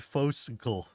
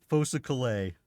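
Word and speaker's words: Folsa: Like like you think it's spel you think you'd say it fos or something. Fosa Clay. Fosa Clay, but it's it's not.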